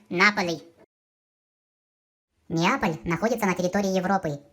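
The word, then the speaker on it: Napoli: На итальянском он произносится как Наполи.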